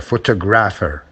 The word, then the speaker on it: photographer: Photograph, photographer, grapher, photographer. That's where the stress is.